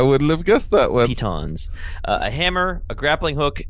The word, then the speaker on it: piton: How we decide that's pronounced? Pitons or pitons?